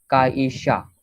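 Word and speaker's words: 会社: Okay, so first is काईशा. काईशा. Okay, SHYA. सिर्फ वाई इधर pronounce नहीं करने क्योंकि वो SH ग्रुप है.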